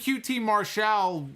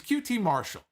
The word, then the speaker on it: QT Marshall: on one making his aew in-ring debut against qt marshall i'm calling him qt marshall all of a sudden they're calling him qt marshall until when did this begin when did this start he wasn't qt martial a year ago did he decide that i'm